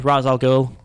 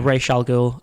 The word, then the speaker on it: Ra's al Ghul: If you could cast Liam Neeson as a supervillain in the future, any supervillain, not including Ra's al Ghul or Ra's al Ghul, as I think he's actually meant to be known in the comics.